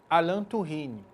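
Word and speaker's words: Alain Touraine: teórico francês chamado Alan escreve alim tourain mas como ela é francês se pronuncia alant turine tá o alant turine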